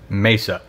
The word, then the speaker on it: Mesa: It's pronounced Mesa, but the computer reads it as Mesa Fire C1.